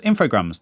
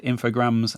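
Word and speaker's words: Infogrames: I'm saying that right I've always said infograms and when I found out that they were French um that kind of cemented it in my mind that that was the correct pronunciation I've heard people say infog graes I don't think that's right I haven't checked this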